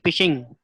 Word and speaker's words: phishing: इसको प्रोनाउंस जो करेंगे वो फिशिंग करेंगे।